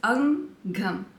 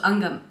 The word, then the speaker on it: Angham: the name angam okay it's not actually not that difficult it's angam so it's a NG Ang and um so angam you know now do